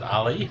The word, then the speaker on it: Tom Ale: because his name's Tom Ale, and we were talking about beer. Yeah. So clearly not a good beer, but we'll see. Oh, I think they actually pronounce it Ali, but angry toe.